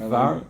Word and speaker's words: עבר: Avar, it says Aver or Itvar. Three dots. Oh, it says Aver, okay.